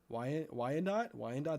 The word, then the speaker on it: Wyandotte: in Indiana, this is was this Leavenworth, Wyandotte, Wyandotte, that's how you say it.